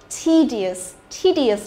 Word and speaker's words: tedious: E và đằng sau đó cũng cộng với cả io thì e cũng đọc là i dài, nhớ chưa? Tedious.